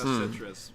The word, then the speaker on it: Kinema Citrus: Cinema Citrus, or however you Kinema pronounce Citrus. it. Kinema Citrus.